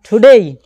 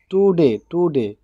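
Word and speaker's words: today: Right, একটা বিষয় হচ্ছে কোন শব্দের শেষে যদি এরকম এ ওয়াই থাকে, কোন শব্দের শেষে এ ওয়াই যদি একত্রিত থাকে, যেরকম এ ওয়াই একত্রে যদি শব্দের শেষে থাকে, তাহলে আমরা এই উচ্চারণ করব।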